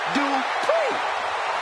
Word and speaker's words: Dupri: Uh, Michael, it's pronounced Dri. The final is scheduled 414. Making her way to the ring, representing the Alpha Academy from Phoenix, Arizona, Maxine Dri.